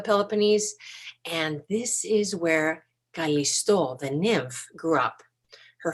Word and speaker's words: Callisto: And her name is Callisto. In English, sometimes people say Callisto. So I'll try and say both the English and the Greek pronunciation just so that you know what it's supposed to sound like.